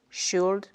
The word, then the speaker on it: should: On écrit bien avec un L, would, should, could.